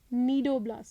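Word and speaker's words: cnidoblast: Those are called as नीडोब्लास्ट sales. ठीक है, यहाँ सी साइलेंट है।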